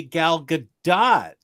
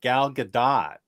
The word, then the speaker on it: Gal Gadot: was right we say gal gadot the t is not silent and should definitely be pronounced well that was about three years ago or four years ago on omni bros so it's gal gadot i'm glad i said